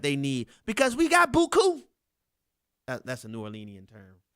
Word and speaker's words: beaucoup: need because we got beaucoup. That's a New Orleanian term. That's French for a lot. Beaucoup is the right way to say it. But we say beaucoup.